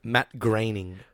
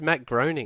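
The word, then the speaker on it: Groening: created the show exactly what how do you pronounce his name Matt graining I always thought it was Matt groaning groaning I used to say groaning until I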